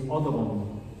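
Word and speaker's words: Audubon: Hubo un antecedente, otro mitólogo del mismo tipo en los Estados Unidos, John James Odogon. Lo voy a escribir porque se pronuncia así, pero se escribe diferente.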